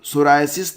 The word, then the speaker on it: psoriasis: ही important है विश्व सोरायसिस दिवस इसको कहते हैं वर्ड सोरायसिस इसमें को स्पेलिंग में पीस साइलेंट सब्सक्राइब स्कूल यह प्रतिवर्ष